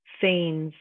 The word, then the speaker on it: feign: Or if someone feigns getting hurt, feign means to fake, right? If you're pretending. That G over there is silent as well.